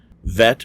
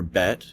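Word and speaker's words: בית: their names are pronounced vet or bet can also be pronounced vate or bait VAV can also be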